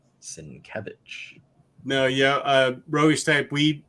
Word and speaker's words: Sienkiewicz: I learned that here, how to pronounce his name. Sienkiewicz.